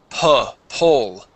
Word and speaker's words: pole: You're saying pole with an O sound. Po. It is pole.